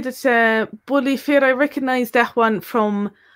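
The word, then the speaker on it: bulaí fir: And they tend to say it more as Bully Fee. They say it is fee rather than fair, and they often don't pronounce the R.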